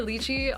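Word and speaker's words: lychee: But yeah, IRL Diana is in fact by Paul says, "I think Litechi or Luchi are both acceptable pronunciations." And Yerben says, "I heard someone pronounce it licky once and I couldn't tell if he was with me."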